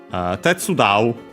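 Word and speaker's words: 手伝う: Weirdly enough that the voicing gets moved, but it is like this.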